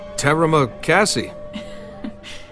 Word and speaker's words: terima kasih: Terima kasih. Actually, it's pronounced terima kasih, but you're welcome.